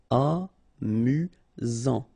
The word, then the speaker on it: amusant: You've got only one S here between the vowels, so it's really this Z sound. Amusant.